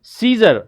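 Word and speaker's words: Caesar: silent letter होते हैं here it इज सीजर Roman सम्राट सीजर अच्छा एक ही वाज a king as यू कैन सी यहां पे ए को प्रोनाउंस नहीं किया गया एज यू कैन सी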